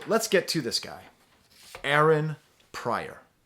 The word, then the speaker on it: Pryor: Aaron Pryor. Like Richard Pryor, but Aaron.